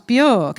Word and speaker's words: Björk: No, it's how you pronounce Björk. It's not supposed to sound like you just puked. Oh, whatever, Björk, Mira tutted and waved Elise away.